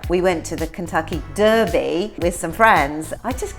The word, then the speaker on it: Derby: And if we call something a derby, it's always pronounced A with an A sound and never with an E sound.